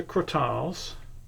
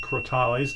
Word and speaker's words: Crotales: But these are Crotales, or Crotales, depending on who pronounces it.